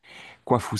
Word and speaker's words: Kuafu: Kwafu, ça s'écrit Kuafu.